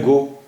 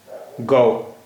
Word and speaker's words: गौ: आवाज क्या हो जाती है यह तो है गो और यह देखि यह है कौड़ा गौ इसका उच्चारण हो गया गौ कौन कौन रौनक रौनक